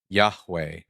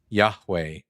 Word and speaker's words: Yahweh: God's name in Hebrew, yudhe vave, is pronounced Yahweh. That's what I said from the beginning. No, you did not say that. I say Yahweh. Yahweh.